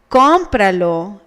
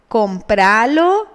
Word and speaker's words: cómpralo: If báñate, cómpralo, and llámame did not have the tilde, they would be pronounced bañate, compralo, llámame, according to the Spanish pronunciation rules.